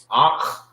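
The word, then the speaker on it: أخ: Some people say it so fast you will not hear like the pronunciation that the you hear Akh. Sound like they're saying it with a K, the K-A, Akh. But it's Akh.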